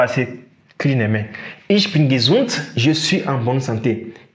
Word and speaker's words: gesund: Tu vois que ici, on a D à la fin de gesund, mais on prononce ça T.